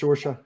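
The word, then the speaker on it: Saoirse: that's pronounced Sorsha.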